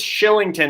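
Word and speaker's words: Kylington: like it styling tonight it is Shillington it's a the way the Swedish pronunciation is so Oliver Shillington in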